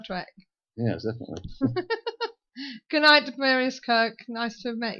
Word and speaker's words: Tiberius: And Tobias Kirk, is that right? Did I say it right this time? Tiberius.